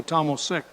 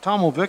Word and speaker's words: Tomovic: I was going to say Tomosic. The C is silent. Tomovic, thank you, Mr.